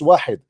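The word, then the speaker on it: واحد: You do not even know how to say it is not Wahid, it's Wahid.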